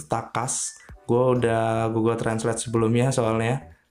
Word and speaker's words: TACAZ: cas tulisannya memang pacar cuma cara bacanya itu tak cas goldah Google Translate sebelumnya